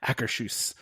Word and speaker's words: Akershus: And prime example, if there wasn't the representatives working in Norway, you wouldn't be able to find out how to pronounce Akershus properly. Akershus.